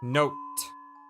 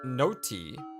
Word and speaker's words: note: Note. Note. Note. That's a silent? Like, you don't... The E is not heard? I mean, it's not notey, but note.